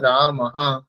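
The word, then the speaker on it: रामः: বলি তাহলে কি হবে মম নাম রামাহা ঠিক আছে এখানে বিসর্গ হবে আর যদি লতা শব্দ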